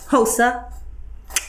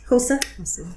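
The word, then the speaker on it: Xhosa: this is the lovely house say it properly hosa hosa there we go outfit i've been trying to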